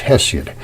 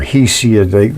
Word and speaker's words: Hesiod: It's Hesiod or Hesiod. Everybody pronounces things different.